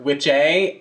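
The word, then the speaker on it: wicce: It stems from two Old English words, which were witche and witcha. We're almost 100% certain about that pronunciation. Witche, witcha. You know, like witcha.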